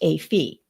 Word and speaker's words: A Phi: Kaylee's and Maddie's top choice is Alpha Phi, or A Phi as it's known, pronounced A Phi.